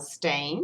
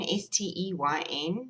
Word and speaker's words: Steyn: Because you know stain, S-T-E-Y-N, you say it like stain as in you've made a stain on your clothes.